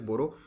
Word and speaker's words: बोडो: असम में रहने वाले बोडो या बोरो, दोनों सही हैं, ये लोग अपने आप को बोरो कहते हैं लेकिन अब डी लिखा जाता है इसलिए हम सब बोडो कहने लगे हैं, एक्चुअल प्रोनाउंसिएशन इज बोरो।